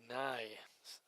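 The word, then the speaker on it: Neu: Andy Nye, the way it should be pronounced, and Andy draws a walk.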